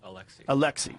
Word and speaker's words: Alexei: Alexei.